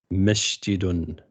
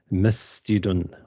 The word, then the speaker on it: مسجد: They say هذا and they pronounce it as with a sheen, like هذا مسجد, which is incorrect. So هذا مسجد with a seen, miss.